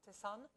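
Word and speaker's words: Tessanne: Do you pronounce it Tessan? Yeah.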